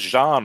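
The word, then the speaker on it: Xi'an: so somebody's saying oh Cal Mason says Jean rather than Xian Cal Mason's saying it correctly if you pronounce it in the military dialect and that makes sense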